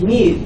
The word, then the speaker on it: mu: letter m and the Greek letter M is pronounced mu and that is a lowercase me now here's